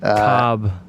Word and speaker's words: Kolb: Cobb. You're like my father. You can't pronounce any sports names. Kevin Kolb. That's true. I mean, the Kevin Kolb part.